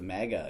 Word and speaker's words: MAGA: Oh it's my a MAGA. God. It's a MAGA truck, not mega.